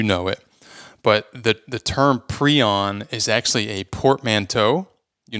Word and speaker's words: prion: the prion hypothesis, and he pronounces it prion, and so I figured that's probably what the rest of us should do.